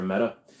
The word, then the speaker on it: Mete: You can usually get those somewhere in the range of about $400 for a Meta. METE. We pronounce it Meta just because it's the simplest way to do it.